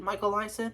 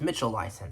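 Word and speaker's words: Mitchell Leisen: Is it Michael Lyson? No, it's Mitchell Lyson, sorry.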